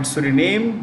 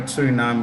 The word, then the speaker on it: Suriname: American country named Suriname you could call it Sury name but Suriname is a better pronunciation this country offered its